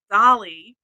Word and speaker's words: Dahlly: fun and and it's it's pronounced Dolly because it's a combination called because the the final product ends up looking like a dahlia so that plus Holly equals dolly and that was what